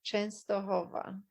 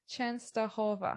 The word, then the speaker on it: Częstochowa: Oh, you say it Częstochowa. Częstochowa.